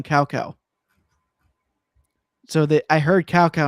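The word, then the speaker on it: Cao Cao: character whose name is spelled CAO. See, it's like okay. Well, in the original voice acting for the first few games on the PS2, they called him Cow Cow.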